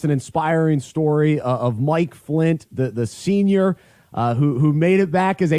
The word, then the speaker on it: Flynt: Thank you so much and for your listeners, it's spelled Flynt, because a lot of people will look for Flint, but it's Flynt.